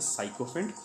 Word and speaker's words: sycophant: He is insulting you, he is critical about you, is the opposite of somebody who is a sycophant, who is a bootlicker. Now what is the pronunciation?